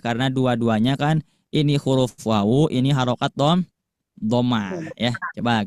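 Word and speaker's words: و: Jadi pengucapan untuk huruf wawu harus diawali dengan menggabungkan kedua bibir ke depan ya.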